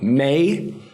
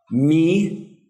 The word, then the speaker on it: me: May. You might want to actually give yourself a pronunciation code because if you say me, because that's what you're reading. No, remember. A, E, O, U. May.